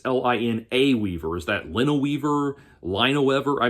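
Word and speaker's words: Linaweaver: David Abhue and Brad Lineweaver, and 2 people with unbelievably difficult names to pronounce. Even Brad Lineweaver, you would think it's Line Weaver. No, it's Lina Weaver.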